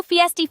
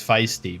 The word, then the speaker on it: feisty: Well, normally you pronounce it right. It's feisty. But that time you said fiesty and I don't really know.